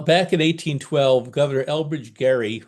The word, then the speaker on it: Gerry: Elbridge Jerry, Elbridge Gary. What is it? Why do we worry about it? Well, back in 1812, Governor Elbridge Gerry, I'll pronounce it the way he did with a hard G, Archie.